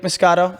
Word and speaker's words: Moscato: The great, amazing Jake Moscato. I pronounced that right, obviously. Italian. Jake, yeah, that's it. Yeah, Jake Moscato.